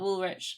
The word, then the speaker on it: Woolrych: Hello, my name is Woolrich Photography or Woolrich _cosplay. Woolrich is spelled WOOLRYCH. Confusing, I'm sorry.